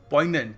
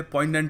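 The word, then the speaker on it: poignant: पोइगनेंट। हां इसको पोइग्नेंट नहीं कहते। पोइनेंट होता है। ठीक है? वैसे इसका जो रूट वर्ड है वो होता है पंजरी। बट अब यहां पर जी साइलेंट है।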